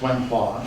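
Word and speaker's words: 文化: So if we go to China, the term that they chose, and it's the same characters, wen hua, so if you do Chinese, you've got two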